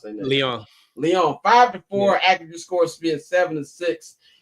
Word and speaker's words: Lyon: How you pronounce that? Lyon.